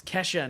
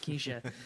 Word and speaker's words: Kesha: no he's dwarf um it's Kesha not Keisha um he's a Dwarven